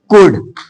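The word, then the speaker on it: could: means ज्ञान आगे देखिए एल साइलेंट कहां रहेगा यदि एल के बाद डी एफ के एम याद कर लो डी एफ के एम आए तो वहां एल साइलेंट रहता है जैसे कुड कुड कुड एल के बाद डी है कुड एल के बाद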